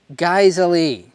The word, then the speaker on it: Geissele: It's pronounced Geissele. Geissele?